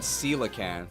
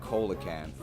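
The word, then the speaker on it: coelacanth: relicanth is based on she said Caan I said colaan I was incredibly wrong but I thought I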